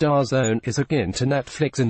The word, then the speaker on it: DAZN: and based in the UK da Zed and pronounced our zone is again to Netflix in the did say